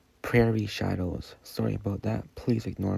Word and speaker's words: Prairie Shadows: It's not Perier, it's Prairie Shadows.